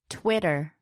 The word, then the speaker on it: Twitter: words like Ladder, or, Twitter. even though the words are spelt with a D and T, the sound that is made is with the tongue tapping the roof of the mouth.